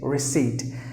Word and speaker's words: receipt: was recived recived but there are some silent letters as well for example the letter P and the letter e so you have to pronounce the word is or seat like this re seat receipt so that's the way